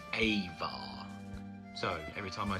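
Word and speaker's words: ajvar: ingredients in this is abjar ajar hello now I'm home and editing I have worked out that the actual pronunciation is avar so every time I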